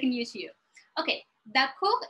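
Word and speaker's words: d'accord: have the dot co we don't pronounce the last letter i don't know why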